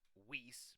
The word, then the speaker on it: vis: regenerate mana mana or these are technically pronounced whis but I'm going to say these these is your your magic